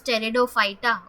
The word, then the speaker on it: pteridophyta: having is steridophyta now here the p is silent so don't read that you can start reading it from T so it becomes pteridophyta okay so all the